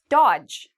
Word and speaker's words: dodge: Dodge. Okay, D and G are together, so we get rid of dodge. So again, if you see D and G, don't pronounce the D.